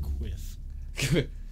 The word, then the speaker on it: quiff: pronounced quiff.